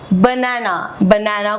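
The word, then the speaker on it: Banane: बनाना को हम जर्मन में बोलते हैं बनाने. से टी इज साइलेंट हेयर.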